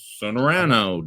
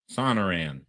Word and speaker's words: Sonoran: And something called a Sonorano dog. I I looked it up on how to say it and then I missed it. Sonar Sonoran. Sonuran. Sonaran. Yeah, that's it.